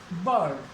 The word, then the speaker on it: bird: जैसे BIRD, आर आ रहा है, आर के बाद व्यंजन आ रहा है तो आर का उच्चारण नहीं होगा, बर्ड, बर्ड।